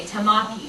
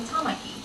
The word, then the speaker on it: Tamaki: But you know, most people might look at some of the names, like the 3-syllable names, and maybe they would say Tamaki, but it's really Tamaki.